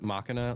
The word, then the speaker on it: Machina: I could have swore Taz is part of Machina. Is it? Is it Makina? Machina? I don't know. So, Krono Krono said that it's pronounced Machina like you're saying the word Mach.